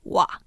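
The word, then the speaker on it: は: a particle right so that's why ha is pronounced wa but what do we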